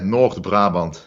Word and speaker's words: North Brabant: huh yeah that's true from Netherlands North Brabant did I pronounce that properly yeah yeah North Brabant but I mean evidence